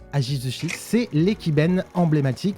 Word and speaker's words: Ajizushi: The Minato Ajizushi, it's not easy to pronounce. It's aji sushi. Ajizushi is the iconic ekiben of the Numazu and Mishima region.